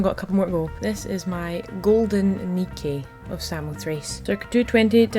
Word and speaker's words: Nike: Nike is the goddess of victory, which is where Nike trainers got their name, but of course they pronounce it Nike, not Nike.